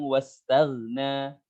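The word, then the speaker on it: وَاسْتَغْنَىٰ: Nah, saya ingatkan kembali, jangan ditahan tagna, bukan, atau terlalu bablas tagna.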